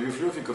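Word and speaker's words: вивлиофика: Но библиофика в смысле библиотека, так произносилось на греческий манер.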